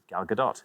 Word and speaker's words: Gal Gadot: has a mispronounced name so well done for pronouncing it correctly galgadot galgadot good name thank you very much indeed